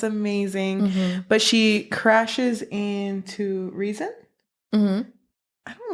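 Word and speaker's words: Rhysand: But she crashes into Reason. I don't like the way the name's pronounced. I don't either. I don't think anyone does. I kept saying Rysand because it looks like Rysand.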